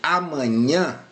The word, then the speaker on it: amanhã: Quando eu pronuncio amanhã, a sílaba tônica é esse nhã aqui, pessoal. Aqui é a sílaba tônica, tá joia?